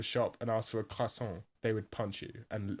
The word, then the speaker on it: croissant: But some people in America pronounce it croissant, right? Which is just not right at all. Because the real French would be croissant with the thing at the back of your throat.